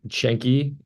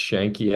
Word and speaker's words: Yanqui: totally sure well uh shanki and it's pronounced shanki actually because the that's Argentine way of doing it like they do the